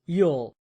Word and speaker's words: ULL: The slow lane strategy is rooted in uncontrollable limited leverage or ull pronounced yule.